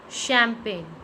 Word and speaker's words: champagne: When GN come together, it will make a sound of N. It means G will be silent. Nat. What is it? Nat. Nom. Nom. Champagne.